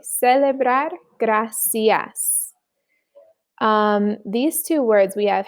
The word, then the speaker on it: gracias: So CE and CI in Spanish is always going to sound like an S. C and C. Celebrar, gracias.